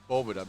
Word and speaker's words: Boveda: it and it's actually boboda because it comes from spanish word la boveda which is the vault for me everything sounds